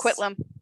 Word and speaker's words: Coquitlam: I can never pronounce it correctly, British Columbia. If you recognize... Coquitlam.